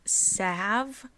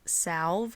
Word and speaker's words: salve: I'm very aware that it is pronounced Salve with a silent L and not Salve but as I will